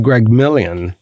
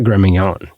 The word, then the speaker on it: Gremignon: And the worst part is, according to news reports, Abagnale didn't even know how to pronounce his boss's name. He called him Greg Million, not Gremignon.